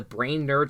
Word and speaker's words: Brainerd: cabins in the area, better known as the Brainerd Lakes. I am pronouncing it right?